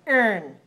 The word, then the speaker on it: earn: So here, the syllable, the third syllable, doesn't sound like ron, it sounds like earn.